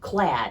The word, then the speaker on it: clad: I have an update, 2 different conflicting definitions which I've gotten from people I know about the word clad. It turns out it's not clade, it's pronounced clad.